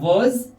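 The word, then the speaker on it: was: उसके बाद हमारा वज, इसे पढ़ेंगे वज, मत बोलना वज, वज, ज नुक्ता, वज, ठीक है?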